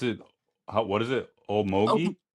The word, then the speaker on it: Okmulgee: And you pronounce it, what is it? Oak Omogi? Okmulgee. Okmogi.